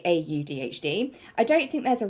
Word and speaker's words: AuDHD: Because some people like to say or DHD, which I find a little bit odd, like for myself, but I personally just will say AUDHD.